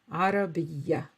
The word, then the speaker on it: عربية: So just remember that although it's a ta, the ta marbuta, except in specific cases, are pronounced as a, عربية, عربية.